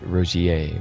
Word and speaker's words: Rogier: It's a French pronunciation. So Rogier, right? Okay. And how to pronounce? Let's say Olivier. Olivier. Olivier. Olivier. So I wanted to say the French pronunciation of Rogier is the same.